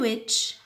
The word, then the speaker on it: which: I craft the silent letter which her feeding listen in which الh هذه ماش تنطق انا نقول which هاد الh ماناش نسمعوها